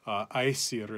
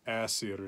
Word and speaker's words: Æsir: group of Norse gods, the Æsir in modern Icelandic, Æsir in Old Norse.